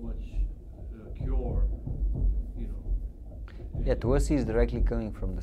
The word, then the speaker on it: Tulsi: It's not Tulsi. But Tulsi is actually in Bengali language. So my name it's is in Tulsi. Same all over India. Tulsi. This is how it's pronounced.